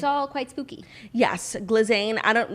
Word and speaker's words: Ghislaine: Glazine. I don't like you know what? How do you pronounce her name? Glazine. Glazine. Gileain is what they said is what they said in the documentary, but I don't want